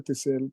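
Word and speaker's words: Ethisiel: que que no tengo nada Claro que diga tiel pero se escribe así e t h i s i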